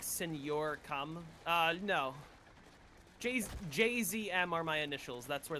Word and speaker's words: JZM: The way to pronounce it correctly is to pronounce each of the letters. Mr. JZM. But, like, everyone says because, you know, it's funny.